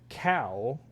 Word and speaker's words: Kau: A Kau. It's a cow, but it's spelled with a k a u. Very cool.